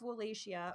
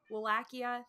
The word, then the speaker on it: Wallachia: a fun guy he was the ruler of walesia or wallachia I forget how you say that Kia wallachia thank you yeah because I keep pronouncing it